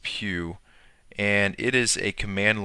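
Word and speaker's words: pyew: that's called PE it's spelled pyw and uh pronounced Pew and it is a command line hex editor viewer and disassembler so Pew allows us to navigate and explore uh an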